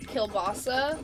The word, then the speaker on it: kielbasa: Well, technically, it's like kielbasa.